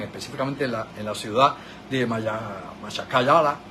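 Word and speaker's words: Makhachkala: en la ciudad de Machakala, creo que se pronuncia Mahakala es como debe pronunciarse, la ciudad de Mahakala,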